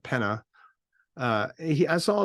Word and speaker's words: Pena: a guy Dan Pena p-e-n-a I believe that's how you pronounce it Penna uh he I saw